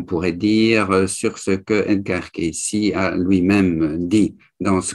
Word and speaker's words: Cayce: On prononce Edgar Cayce, mais en réalité, en français, ça se lit Edgar E-D-G-A-R. Vous voyez sans doute cela dans l'introduction. Et le nom, c'est C-A-Y-C-E. Mais en américain, on dit Cayce.